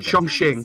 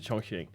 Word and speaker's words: Chongqing: the pronunciation may still chong ching chong ching that's it chongqing welcome to the choking